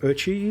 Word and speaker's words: Öcsi: Because we have Ö. Just like how Öcsi is pronounced.